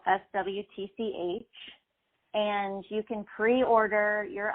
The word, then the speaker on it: Swtch: Swtch is spelled SWTCH.